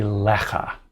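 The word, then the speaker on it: לְךָ: L plus our good old ka for ata, to you, is a lecha. And you see there's an accent on this syllable. A lecha.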